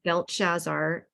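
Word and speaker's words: Belteshazzar: you go yeah and here I'll I'll pronounce these so it's uh belt shazar and hananiah is Shadrach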